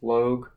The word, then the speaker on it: Logue: The Athletics against the Mariners with Logue, I believe it's pronounced, Log, against Gonzalez.